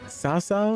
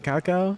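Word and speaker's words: Cao Cao: sala's true enemies Al it's pronounced like an S Sasa instead of kaka against the yellow turbin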